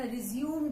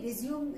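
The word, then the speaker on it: résumé: कभी आपको कहा जाता है कि अपना रिज्यूम दे दो, नहीं, रिज्यूम इज नॉट the right word, it's a French word and it's pronunciation is रेज्यूमे, which means a short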